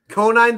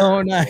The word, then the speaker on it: Conine: It's Jeff Conine the Barbarian to you, sir. Conine.